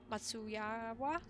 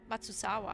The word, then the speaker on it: Matsuzawa: Yoko drew up the rough design of the packaging illustration, and Final Fantasy XV official artist Yuki Matsuyawa, okay, sorry for not pronouncing your name properly, Matsuzawa actually, developed the sketch into